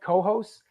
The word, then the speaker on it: Cohoes: scene, that area, Albany, Troy, Cohoes, am I pronouncing it right? Cohoes?